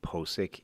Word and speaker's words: Pocic: Pocic's name, the official pronunciation became Posic, even though that doesn't make any sense.